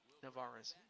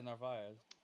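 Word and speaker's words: Narváez: well, it resulted in an out, but Narvaez or Nerve, I'm not sure how you pronounce his name. Omar Narvaez. Navarez. No, Yeah, Narvaez.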